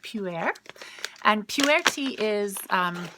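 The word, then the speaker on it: pu'erh: yummy then we have pew air tea and mrs. felt P P you apostrophe e r H and it's pronounced pew air and pure tea is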